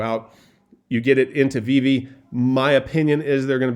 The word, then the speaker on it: VeVe: VeVe is a mobile and for those of you who want to tell me that it's pronounced VeVe, you can pronounce it however you want to, but you notice both the V's are capitalized, so it's VeVe.